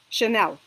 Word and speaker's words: Chanel: for example chemistry chemistry and if CH combination is pronounced sure so it means that these are French origin words like for example champagne or for example chandelier which is Ja or the Famous Brand Chanel okay so these are